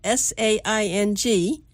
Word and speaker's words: Saing: And when I say Saing, it's spelled S-A-I-N-G, but it's really Saing.